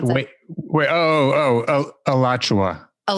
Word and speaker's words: Alachua: is shoot i forgot steve how do you pronounce it wait wait oh oh oh alachua alachua county florida it's an october 2018 verdict so